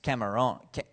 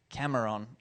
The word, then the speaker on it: Cameron: Because if I say my name is Cameron, then that means my name is Shrimp. And that's memorable in its own way. But I had to be careful where I put the accent.